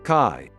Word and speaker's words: qi: yang of the life force known as chi pronounced chi illness is said to be the consequence of